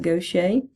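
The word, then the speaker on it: Gaucher: the goet disease and it doesn't sound like it looks because it is actually a French word so it's pronounced goet in goet disease since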